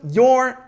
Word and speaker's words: you're: Atenção, pronúncia é your. Your. Ah, Vi, mas isso é igual a isso de pronúncia? Your. Exatamente, é igualzinho, tá bom? Não tem diferença.